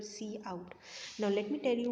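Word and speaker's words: cout: in and c out now don't pronounce it as count okay most of the students pronounce this one as cow this is your c in this is your c out now let me tell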